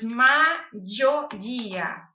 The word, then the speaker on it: mayoría: O Y nesse caso não tem som de I, como oi, ódio. Oi, né? Então, maioria. Você vai pronunciar dessa forma. Maioria, tá? Vai treinando com o som de J mesmo e depois você vai suavizando um pouquinho.